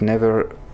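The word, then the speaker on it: Niamh: Her name is Irish and pronounced Neve.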